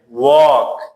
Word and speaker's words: walk: Walk, قدم زدن, L is silent.